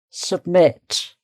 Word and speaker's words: submit: And then with the letter U, it's still the same sound, submit, stressed syllable here, submit, okay.